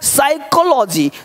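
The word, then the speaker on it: psychology: ये देखिए क्या, साइकोलॉजी, तो साइकोलॉजी मनोविज्ञान, यहाँ पे साइलेंट रहना है।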